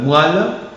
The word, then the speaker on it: moelle: Attention aussi à la graphie OE, prononcé aussi wa. Hein? Ce sont des termes normalement dérivés de la médecine ou dans quelques mots très connus aussi. Et par exemple, moelle et dérivés comme coine, poilon, moellon, moelleux.